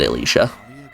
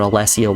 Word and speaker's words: Alessa: at last ala Alesia I was pronouncing it Alicia but as it turns out Alesia was correct where's cherl where is